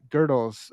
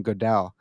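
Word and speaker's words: Gödel: pronounce whatever we want wait how is it pronounced it's girdle what it's got the two little dots on top that's German man it's uh it's well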